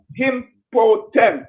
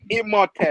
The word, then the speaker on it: Imhotep: Listen, yeah, impotent. Me say me can pronounce it right. Impotent, right? No, take out the P. Take out the P. Imhotep. Take out the P and put the M.